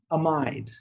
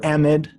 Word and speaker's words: amide: So instead of an amine, it's an amide, yep, or amide, depending on your pronunciation.